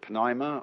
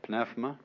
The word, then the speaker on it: pneuma: the greek word uh you may pronounce it pneuma or pneuma is the same as